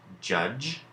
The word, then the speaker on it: judge: digraphs borrowing its sound so let's look at these three words judge knowledge and edge when we are writing these words as we hear them the sounds that we hear it then we end up with judge knowledge and edge each of these has the J sound at the end that